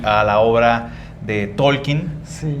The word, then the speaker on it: Tolkien: ¿Porque es Tolkien o cómo se pronuncia? Tolkien.